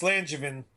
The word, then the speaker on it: Langevin: I hope I pronounced your name correctly. Nobody does, so it's all right. It's Langevin. Langevin.